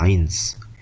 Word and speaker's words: eins: 자, 1 조심해야 될 게 1을 많은 사람이 아인이라고 하는 거예요. 아인. 그게 아니라 1은 eins입니다. eins. 이따가 설명을 할 테지만 1이 단독으로 쓰일 땐 eins라고 하고 다른 거하고 같이 쓰일 때는 ein하고 발음을 하는 게 맞는데 단독으로 쓰는 eins라고 쓰는 겁니다.